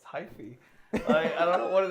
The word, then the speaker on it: hyphy: It's hyphy. Wait, hyphy? Yes. Hyphy. Shouldn't it be hypey? It's hyphy.